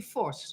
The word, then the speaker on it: Vos: I always wanted to talk to her, Vos. Welcome. Hi. Did I pronounce your last name right? Yeah, can you say it again? Vos? Yeah, Vos. it's actually Vos.